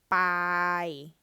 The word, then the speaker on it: Pai: Pai.